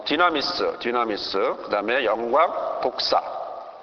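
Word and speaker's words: δόξα: 나라 바실레야고 하는 부분과 권세 어 디나믹스 디나미스 그다음에 영광 독사 독사가 그 발음이 헬라 발음으로 영광을 독사라 그러는데요.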